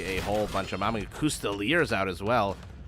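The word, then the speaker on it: Coustillier: Custeliers out as well. I know they're pronounced Custelier, but there's absolutely no way I'm going to be able to keep saying Custelier, Custelier.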